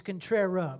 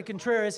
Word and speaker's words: Contrera: It's Contrera. My fault, Mr. Contreras. I say Contreras, it's Contrera.